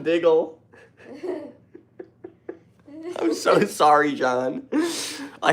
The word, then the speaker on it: Diggle: Hey, man, it's not Dingle. LMAO. It's John Diggle.